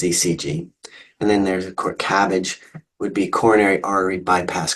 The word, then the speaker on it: CABG: And then there's a CABG, would be coronary artery bypass graft, and just briefly referred to as CABG.